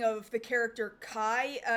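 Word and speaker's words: Ky: They're spelling it K-Y, like as in, like, the lubricant. like Kai, like K-Y. K-Y, yeah. So, like, you could get, like, K-A-I could have been pronounced Kai or K, but no, that's not how it's being spelled. It's K-Y. Now, the other thing I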